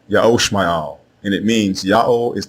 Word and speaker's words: Ishmael: The correct way to say the name of Abram's firstborn son is not Ishmael. It is Ya'o Shma'al. Ya'o Shma'al.